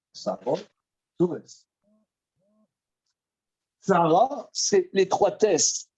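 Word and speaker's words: צרות: Prononciation, Sarah, tsures.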